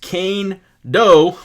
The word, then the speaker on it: Kaindoh: player bio right now so kando pronounced kane doe was tabbed as one